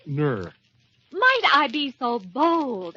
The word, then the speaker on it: Nur: It's pronounced Ner.